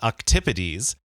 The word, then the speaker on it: octopodes: And so cephalopods, this is the group of mollusks that includes octopuses or octopodes, or what I recently learned, the Greek pronunciation octopodes, which I love.